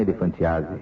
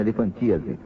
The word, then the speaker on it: elefantíase: Não é elefantiase, é que ele falou de elefantiá a gente também, mas na verdade a pronúncia certa, agora fiquei sabendo, elefantíase veio entupido na perna e a perna dele é desse tamanho.